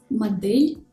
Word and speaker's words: модель: example in the words модель, флешка, степлер. In these words, the consonants D, L, T are pronounced hard, even though they are followed by a soft vowel.